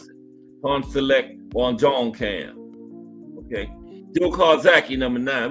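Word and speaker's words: Pongsaklek Wonjongkam: And that's right cuz I looked up that app to tell you how to pronounce it. Pawn Select Juan John Cam.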